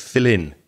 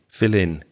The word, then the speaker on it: fill in: vowel sound in and it just sounds like one word fill in fill in the sounds connect when